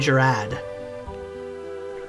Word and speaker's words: Gerad: town let's go find gerad I mean that's how you pronounce his name gerad has no extra R even though it probably should come on where are